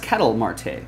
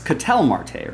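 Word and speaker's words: Ketel Marte: Hit Parade jaspy collab I think it's pronounced Kettle Marte or it's catel Marte right that's how he wants it pronounced of course Rex of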